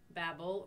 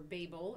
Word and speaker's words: Babel: That is why it was called Babel or Babel. In some areas they pronounce it that way.